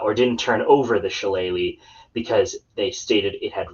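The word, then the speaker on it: Shillelagh: The jeweled challe. So, and yes, that is how you pronounce it. It's not salaga laga or whatever people think it might be.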